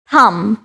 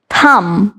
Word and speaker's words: thumb: this word exactly right thumb thumb thumb th sound দিয়ে শুরু হচ্ছে and m এর পর b থাকাতে এটা কিন্তু silent হয়ে যাচ্ছে so the